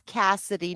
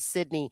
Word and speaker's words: Cassidy: Yeah, yes, and I see Angela Grace is like, yes, it's Cassidy, not Sydney.